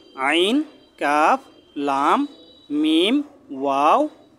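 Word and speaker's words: ميم: প্রথমে হলো মিম, 2 ঠোঁটের শুকনা জায়গা থেকে উচ্চারণ হবে মিম।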